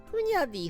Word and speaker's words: Hunyadi: イおじですねフニャティって発音全然違いますけど日本語にしちゃうとラキ界隈で 1番可愛い響きですふにゃでィふにゃでィふにゃディ